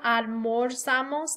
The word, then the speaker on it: almorzamos: attention to the pronunciation, that with the yo form, almuerzo, you're really hearing that UE stem changer, and that nosotros form, almorzamos, you're not.